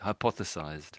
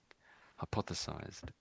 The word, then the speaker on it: hypothesized: So it's it's similar to hypothesis. So it's hypo hypothe hypothesized. Yes, I think you both got it. That's it. Hypothesized.